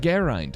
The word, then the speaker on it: Geraint: Apparently it's pronounced Geraint, according to Geraint.